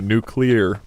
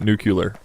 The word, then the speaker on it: nuclear: okay okay okay okay nuclear nuclear nuclear is how you say it Lam a nuclear and that nucular nuclear new clear I'll just put this